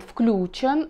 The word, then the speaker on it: включён: ударением на последний слог однако нельзя не упомянуть большой орфоэпические словари русского языка который вышел в двенадцатом году в 2012 году и там уже вариант включен включен с ударением на первый слог уже указывался как допустимый ну правда пока это единственно словах которой скажем так разрешает нам так говорить поэтому я думаю что